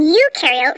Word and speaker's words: eukaryote: rhymes with no and you in eukaryote rhymes with do prokaryotic cells have no